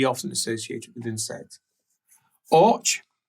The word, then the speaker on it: Orch: Orch, which we would pronounce as och, but orch is the safe way, and as he says,